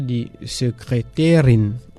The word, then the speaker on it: Sekretärin: Par exemple, on va dire die Sekretärin. La secrétaire en allemand, c'est comme ça, on lui dit die Sekretärin. Ça s'écrit S majuscule E K R E T A tréma R I N.